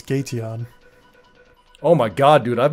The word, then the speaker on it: Gateon: Because I have it in my mind the way I would pronounce it. I want to hear what you think. Well, it's an evolution, so it's Gateon.